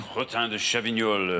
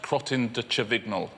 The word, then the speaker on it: crottin de Chavignol: So how do you pronounce it again? Crottin de Chavignol. No, it's actually pronounced crottin de Chavignol.